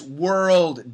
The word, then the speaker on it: world: for lots of people my recommendation is say it in two maybe even three syllables so listen carefully were ro de wer road world world so the first syllable would be w-e-r-e were were were the next syllable would be ar schwa l roll roll roll and it's not the